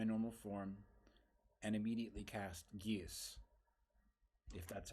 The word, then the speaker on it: Geas: I am going to shift back to my normal form and immediately cast Geas, if that's how it's pronounced.